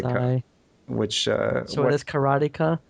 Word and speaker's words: karateka: Which so it is karateka, karate, and then a ka at the end. Yeah, it's not karateka or whatever you kids were calling it.